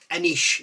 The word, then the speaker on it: Anyz: It's not N-E-Z or N-E-Z or an I-use, it's Anyz is how you pronounce it apparently, and it's Tom's surname.